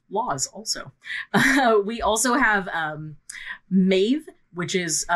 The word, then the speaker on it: Maeve: We also have Maeve, which is spelt either M-A-E-V-E or M-E-D-B.